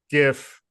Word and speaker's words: GIF: allowed to use the GIF is it gif I thought we talked about this I I'm I'm a I'm a hard G guy we'll say hard G yeah I've been a